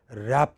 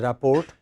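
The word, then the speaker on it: rapport: R T rap ooh many people pronounce it as report it is not rap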